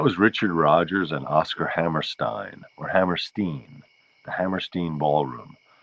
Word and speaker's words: Hammerstein: Mila says she always pronounced it Steen. I think that's right, Hammerstein.